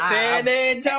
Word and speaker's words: San Antone: You got to say it You got to say it like I said it. I said San Antone.